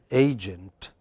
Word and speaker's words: agent: in the first word which syllable is prominent a so how do you pronounce it agent but you know many